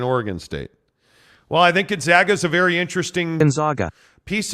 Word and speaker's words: Gonzaga: Well, I think Gonzaga is a very interesting piece of this. And by the way, I got the high-level explanation that it is Gonzaga.